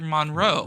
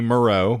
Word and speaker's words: Moreau: Monroe. Richard Stanley. Yes. He disappeared off the map because that movie was... Well, that would be Moreau, but we'll not split hairs.